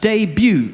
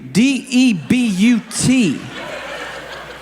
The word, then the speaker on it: debut: no that's that's pronounced debut d-e-b-u-t you just spelled de but no no it is pronounced i promise you it is pronounced debut the t is silent well that's wonderful but